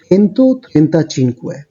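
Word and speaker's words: centotrentacinque: তাহলে এই ৩টাকে আমি যদি অ্যাড করি তাহলে যেই উচ্চারণটা দাঁড়াচ্ছে সেটাই হচ্ছে এটার 135 এর টোটাল উচ্চারণ, অর্থাৎ চেন্তো, ত্রেন্তা, চিনকুয়ে।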